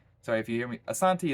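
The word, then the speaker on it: Asante: if you hear me Asanti is how they say it and Shanti is pretty much the Ango siiz version of saying it he was saying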